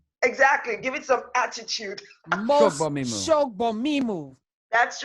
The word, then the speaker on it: Shogbamimu: Shogbamimu. Thank you. Well said. Well said. Say it, Sina. Phonetically. Shogbamimu. Shogbamimu. Exactly. Shogbamimu. Shogbamimu.